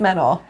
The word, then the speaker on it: Manon: Manon. Spell it.